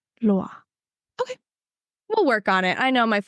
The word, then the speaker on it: Loire: It kind of like gets stuck in your throat because it's at the end. So it's not like super pronounced, I would say, but it is certainly there.